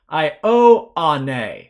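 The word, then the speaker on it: Ἰωάννῃ: Ioane. So we're pronouncing all three of these vowels separately from one another.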